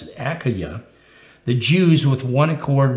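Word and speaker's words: Achaia: galio was pro-counsel of and this word is pronounced akaya it doesn't sound like it but i checked it up because i'm how do you pronounce it akaya the jews with one accord rose up against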